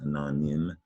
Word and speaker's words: anonym: tricky word to read that y uh y has more than one sound in this case it it's not nine it's it's nim it sounds like a short i sound anonym and that y is